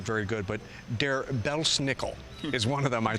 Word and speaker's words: Belsnickel: very good, but Der Belsnickel is one of them, I think, of German lore, and that was represented, it looks like wearing a mask, maybe. Der Belsnickel actually is how the Germans say it.